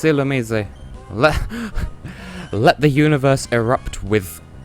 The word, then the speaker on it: Illumise: Oh my god, it's Illumise. Let the universe erupt with controversy over how this thing's pronounced, but according to Shaka Conroy, the official pronunciation is Illumise, and I never particularly...